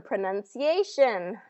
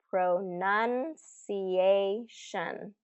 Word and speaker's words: pronunciation: Wednesday okay wednes Wednesday another one pronunciation okay this is another big one pro pronun cation pronunciation pronunciation you try it and this